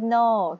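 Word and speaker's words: know: ๆ นะ คะ are in a Ship คืน No K N O W K N นะ คะ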